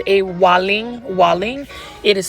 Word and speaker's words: Waling: It's called a Waling. Waling. It is spelled W-A-L-I-N-G.